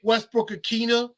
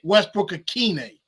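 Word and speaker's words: Westbrook-Ikhine: Chris Moore, Nick Westbrook-Akina, I always say his name wrong. Nick Westbrook-Akine. Kearis Jackson making it, and he might be the punt returner, at least to start off.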